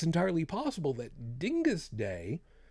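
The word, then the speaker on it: Dyngus Day: Yes, I pronounced it correctly, Dingus Day.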